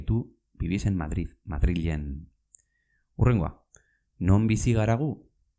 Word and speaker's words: Madril: zarete, Madrilean bizi zarete, Madrilen bizi zarete. Aquella chica y tú vivís en Madrid. ¿Pero cómo se dice Madrid en euskera? ¿Se dice Madrid? No, se escribe Madril, con L, Madril.